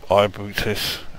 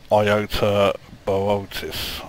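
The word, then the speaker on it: Iota Boötis: wanting to go to Ibutis, except I've found out that it's actually pronounced Iota Bootis or something like that.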